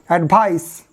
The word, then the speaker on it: advice: Mind the pronunciation, because this first one is advice, because this C sounds S, and this one advise, because this S sounds Z.